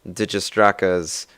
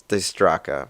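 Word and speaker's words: Dijkstra: with me you'll remember having to do some digistraka's graph theory networking stuff and yeah i know that's not how you pronounce his name it's it's the straca but come on it's spelled that way and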